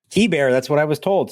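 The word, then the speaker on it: Keibert: And Mark has found the correct pronunciation of that man's name. It is Key Bear. Correct. Key Bear.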